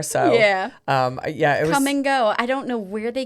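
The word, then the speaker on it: Kum & Go: Yes, that's called come and go. But it's spelled K U M.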